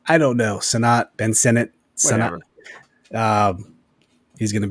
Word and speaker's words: Sinnott: Amir says, I think it's pronounced Sinnott, like part of the government. I don't know. Sinnott, Ben Sinnott, Sinnott.